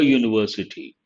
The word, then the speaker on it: university: in a european city it is a university though this also begins with our letter it has a consonant of sound based on that we should not say an university we have to say a university i saw a one-eyed